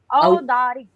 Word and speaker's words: औदारिक: औदारिक, औदारिक, ठीक है दीदी, प्रोनाउंसिएशन उच्चारण ठीक किया दीदी, औदारिक, ठीक है। यानी ओ और औ दो अलग अलग होते हैं जी।